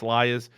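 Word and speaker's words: Liazz: Jury's still out for Liaz, or Liaz, whichever way it's pronounced. I'm told it's Liaz.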